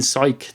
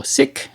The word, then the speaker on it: sic: I never associated with it with the pronunciation psych though. I just saw sick.